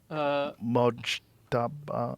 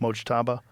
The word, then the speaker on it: Mojtaba: Mojtaba. How do you say it? Khomeini. Mujtaba Khomeini. Mojtaba.